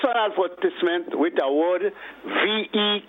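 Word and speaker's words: Vieux: advertisement with a word v k or something ve ve all right I'm very passionate about that the word is pronounced V that's how it's pronounced so that would lead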